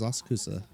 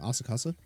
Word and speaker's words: Asakusa: The location is Asakusa. Head over. Asakusa? Oh, I've been saying it wrong. Asakasa?